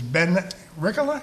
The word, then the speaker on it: Ben Rikkola: And with me is Ben Rikkola.